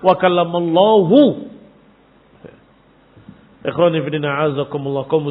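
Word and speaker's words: وَكَلَّمَ اللَّهُ: Ternyata mereka membacanya selama ini dengan wa kallamallaha Musa taklima. Padahal di Quran wa kallamallahu.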